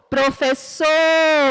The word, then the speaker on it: professor: Na palavra professor, a sílaba que é pronunciada com mais força é a sílaba so. Professor, eu vou perceber que a sílaba mais forte, quando eu falo a palavra professor, é a última sílaba.